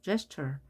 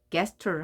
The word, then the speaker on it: gesture: 누군가 알려주든가 사전을 보고 이렇게 발음이 기호가 되어 있죠. gesture. 이렇게 읽어야 되죠. 이거를 gesture 하면 안 된다는 겁니다.